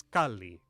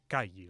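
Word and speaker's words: calli: Well, the Mexican language n tips like when you see two consonants in a row, pronounce both. A house was kali, not ki. Like if this were Spanish.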